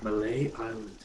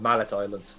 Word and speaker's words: Mallet Island: of pride of lion malay island i i know that's how it's pronounced but i can just i'm just going to keep calling it mallet island that's fair because i